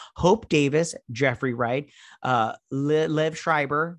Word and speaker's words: Liev Schreiber: davis jeffrey wright uh liv schreiber that's how you say it and then he's